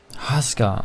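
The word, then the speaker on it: Huskar: It's pronounced Husker.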